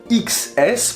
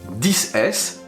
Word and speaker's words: XS: les iphone 2018 s'appelle iphone x s prononcé 10 s oui ça peut prêter à confusion beaucoup d'ailleurs diront xs est ce un mal